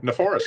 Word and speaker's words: Neforas: Just rhymes with 104. Four. Bam, bam. That's it, right? Neforas, yeah.